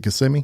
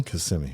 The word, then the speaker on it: Kissimmee: Cloud address in Central Florida near Kissimmee. Is it Kissimmee? Kissimmee, yeah. Yes, I said it right. I was waiting for somebody to pronounce it correctly for me.